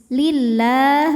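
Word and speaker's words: لله: lebih du harakat lam jalalah dibunyikan secara tarqq sebab huruf sebelumnya berbaris kasrah maka dibacanya tipis lillah buinya lah ya la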